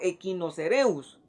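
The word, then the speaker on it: Echinocereus: muestra en el pizarrón y se pronuncia como la como una letra k poniendo un par de ejemplos o un ejemplo los famosos chinos ceros o chinos los chinos cereus se van a pronunciar como equinos cereus si decimos escherichia coli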